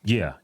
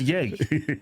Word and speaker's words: Ye: really triggers a lot of people when you mispronounce their name. Yeah. I think I'd still call him Kanye West. Yeah, I know. I better stop that. Yeah. I apologize. Yay.